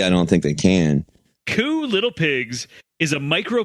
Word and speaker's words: Kew: the bad boys club coo little pigs it's spelled k-e-w it's a it's a